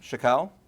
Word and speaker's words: Chackal: Kim Chackal from Equifruit. Did I pronounce it right?